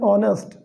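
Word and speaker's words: honest: जैसे एन एयर, एन ऑनेस्ट, an hour, इन शब्दों के पहले एच लगा हुआ है, लेकिन यहाँ पर एच साइलेंट है, इसका उच्चारण हमारे हिंदी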